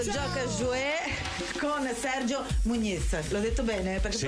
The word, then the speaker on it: Muñiz: Muñiz, resterei Muñiz, però si dice Muñiz, no, dillo Muñiz come se, come in italiano la GN, la perché GN. La N, diciamo la N con la righetta sopra, si pronuncia N.